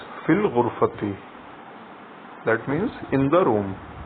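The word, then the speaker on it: في الغرفة: changes to al-ghurfati, and together we pronounce it as fil ghurfati.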